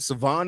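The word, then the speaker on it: Salvon: Savon Ahmed or sorry, they said the L is silent Savon Ahmed he only had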